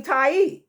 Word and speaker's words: Tiye: They never mention the Queen Tai, right? Or Tai, right? It's spelled Tiye, and so people pronounce it Tai. It's pronounced different ways, but the point is